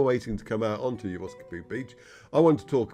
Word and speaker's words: Geroskipou: their football team, and this is how he pronounces it. Geroskipou. So that's how I'm going to pronounce it, okay?